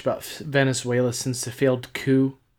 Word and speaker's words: coup: We haven't really talked much about Venezuela since the failed coup. Did I say it right that time? Coup? Yes, dear.